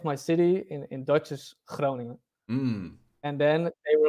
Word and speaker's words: Groningen: the name of my city in Dutch is Groningen.